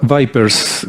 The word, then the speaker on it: VIPERS: Vipers, creo que se pronuncia Vipers, ¿no?